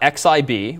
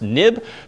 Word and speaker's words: xib: in view controller dot X IB we have what's called a nib file even though it's xib it's historically pronounced nib being next step interface